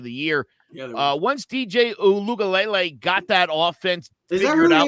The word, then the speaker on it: Uiagalelei: Yeah, once DJ Uiagalelei got that offense figured out and down, that's how you're supposed to say it.